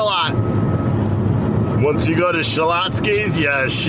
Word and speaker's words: Schlotzsky's: am I was hot skis foreign you're using extra syllables no I'm not Schlotzsky's Schlotzsky's Schlotzsky's I already